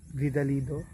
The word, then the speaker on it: Vidalido: no from vidal Dido tama ba ako ng pagkaka pronounce tama vidal Dido yan bago siyang t